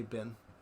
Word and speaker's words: been: How do you pronounce B-E-E-N? I say bin. Bin. Like, have you been? Yeah. So is that? Have you been or have you been? What? Have you been? Like sit. Bin.